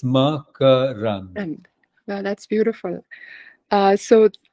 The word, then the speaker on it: Makarand: And it is Makarand. It's not Makarand, as Okay. says, but I don't Yeah. mind. He's Americanized it, making it Makarand, but because I wanted to know what the right way to say it was too. yeah, So it's Makarand.